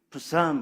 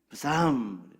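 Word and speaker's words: Psalms: 그래서 영어 성경을 보면은요, 우리가 알고 있는 이 시편의 제목이 부삼 그럽니다. 푸 발음을 아주 여리게 해야 돼요. 부삼, 삼.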